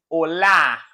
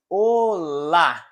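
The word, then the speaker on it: olá: repeat with me again allah in spanish is hola hola but in portuguese o la o la do you see the difference don't speak spanish o la the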